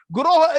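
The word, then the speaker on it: गुरवः: Praptasya Kalyana Gunarnavasya Vande Guru Sri Charanaravindam. I offer my respectful obeisances unto that Acharya, to that Guroho. Guroho is plural. It is not Guru. Many of us pronounce it as Guru.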